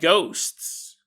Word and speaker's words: ghosts: Why are there no fat ghosts? And you go, Jason, first off, you should learn how to pronounce the word ghost with a plural. You always add syllables to stuff.